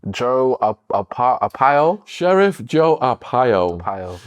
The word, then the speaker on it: Arpaio: Hopefully I pronounce it correctly. Yeah, go for it. Joe Arpaio? Sheriff Joe Arpaio. Arpaio, right.